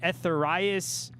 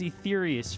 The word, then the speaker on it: Etherius: They'd be like, Etherius. I'm like, no, it's Etherius.